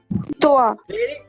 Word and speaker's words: toi: So TOA is the right pronunciation. TOI.